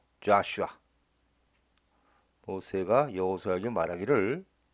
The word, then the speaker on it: Joshua: 덤에 있는이 사인들을 자 우리는 여호수아 그러죠 영어 발음은 자슈아 모세가 여호수아에게 말하기를 스